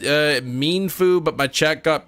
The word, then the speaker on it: Mienfoo: uh there we go how to say it mean FU mean Foo emphasis on the mean emphasis on the foo you just got out